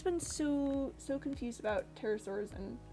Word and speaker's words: pterosaur: oh it's just a it's just a silent p um english just has a lot of those for some reason i mean i i guess technically you do sort of half pronounce it because it's not just a pterosaur it's a pterosaur that's a bad example it just it just disappears it just goes somewhere i don't know where it goes maybe it goes on